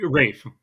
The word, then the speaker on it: Ralph: Rafe. It's It's pronounced Rafe. It's it's spelled Ralph, but it's pronounced Rafe.